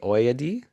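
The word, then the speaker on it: Ayoade: Oyadi, is how it is phonetically spelled on Wikipedia.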